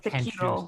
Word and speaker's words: Sekiro: However, your pronunciation happens. It's Sekiro.